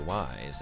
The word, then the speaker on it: Ys: People say the name of the game is pronounced ease, but I know it's actually wise, as in we have many questions.